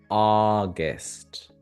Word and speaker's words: August: The second sound is a schwa.